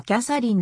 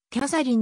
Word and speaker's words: キャサリン: 知られているキャサリンは女性の名前キャサリンのように発音されるかもしれないが多くの地元住民は最後の文節を明確に発音するこの地域